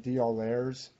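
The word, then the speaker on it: d'Aulaire: These are by, I don't even know how to say their name right, Belair's. I think my parents pronounce it like Baudelaire.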